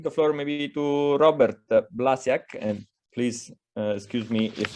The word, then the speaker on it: Blasiak: to pronounce my name it rhymes with maniac so blasiak maniac that's one for you too